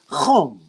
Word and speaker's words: Ham: is ham or actually it's not it's it's not ham it's it's not an h sound it's a sound it's a hum and that name is